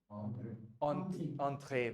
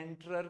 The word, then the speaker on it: entrée: है, एंटरर नहीं है, एंटरर करके कुछ नहीं पढ़ना, entrée, entrée, very good, right?